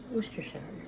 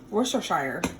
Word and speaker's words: Worcestershire: Worcestershire. Worcestershire sauce.